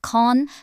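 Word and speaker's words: Cannes: Meta launched an internal covert operation code named after the French film festival city, pronounced Khan, through a third-party contractor called Covalent.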